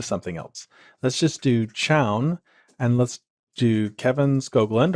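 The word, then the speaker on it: chown: the CH command that's CH H WN I pronounce it Chow it's short for change ownership so we use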